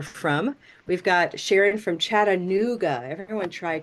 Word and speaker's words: Chattanooga: We've got Sharon from Chattanooga. Everyone try Chattanooga. Chattanooga. Yeah, Chattanooga is a blue moon word, Chattanooga.